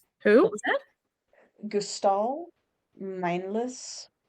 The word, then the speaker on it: Meinlys: Gustal Mindless Hugh. Mindless is spelled Meinlys.